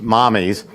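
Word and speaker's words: Mamis: It's Italian for mother, and it's spelled M-A-M-I-S, which they say is mommy's. You look at the spelling of it, and you think You have it's an the lady's agenda name, for today? Mamie's, but it's pronounced mommy's.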